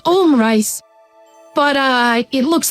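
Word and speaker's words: omurice: that's a recurring thing it's not butt rice it's m rice oh SP but rice there he is there he is in the thread butt rice he insists it's pronounced om rice but uh it looks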